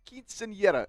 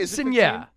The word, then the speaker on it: quinceañera: Quinceañera. Did I get that right? Quinceañera.